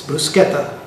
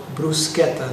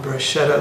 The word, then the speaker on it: bruschetta: want to share it with you today it's brusketa and please not the pronunciation brusketa not Bretta like my friends and family back home tend